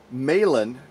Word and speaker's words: Meilahn: Her name is Shary Meilahn. I hope I'm saying her last name correctly. I didn't ask her how to pronounce it. It's M-E-I-L-A-H-N. L-A-H-N. Yep. Meilahn.